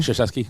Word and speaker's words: Krzyzewski: Krzyzewski.